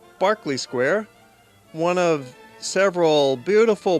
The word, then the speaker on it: Berkeley: It looks like Berkeley Square, but it's pronounced Berkeley Square.